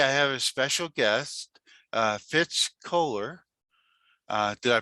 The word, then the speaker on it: Fitz Koehler: And today I have a special guest, Fitz Koehler. Did I pronounce that right?